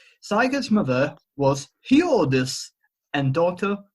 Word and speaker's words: Sigurd: I also want to say that I think you're pronouncing Sigurd weird. It's Sigurd. Sigurd. Like Sigurdsson, like the popular surname.